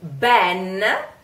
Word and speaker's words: ben: buh-buh-buh alright so mmm been the e in this case is pronounced open white we have two